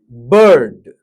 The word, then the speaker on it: bird: B bird bird b er and d d Actually, b er and d bird bird bird Here, er er and half er as if er is there or not.